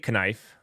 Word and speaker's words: knife: Oh, the K silent, of course. The K silent. Okay. I prefer it with a strong, prominent K. I say knife.